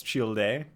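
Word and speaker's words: Childe: That is how you pronounce Tartaglia's nickname. It's Chill Day.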